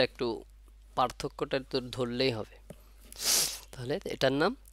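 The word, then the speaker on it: ت: হবে এটার নাম কি তা টা উচ্চারণ হয় কোথা থেকে জিহ্বার আগা উপরে দুই দাঁতের গোড়ার সঙ্গে লাগবে তাহলে এর পূর্ণ উচ্চারণটা আসবে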